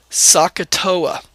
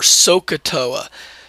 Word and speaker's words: SOHCAHTOA: well by This Acronym sakoa right or sooa Saka however you want to pronounce it doesn't really matter the catch is how